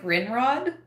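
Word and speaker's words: Grindrod: grind Rod except for you don't pronounce you pronounce it grin Rod but it's spelled grind Rod like that's just hilarious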